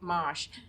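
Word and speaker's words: mâche: soil temperatures good for mosh right now and um unfortunately you would have to order it you you don't see mosh it's ma c h e is how you spell it you could plant that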